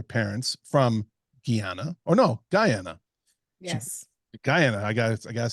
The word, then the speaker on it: Guyana: Guyana, I gotta say it right.